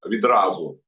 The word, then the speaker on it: відразу: Тоді було сказано, що відразу після відразу з наголосом слово відразу після обміну 1000 на тися Москва підготує і передасть Києву і американцям текст свого меморандуму.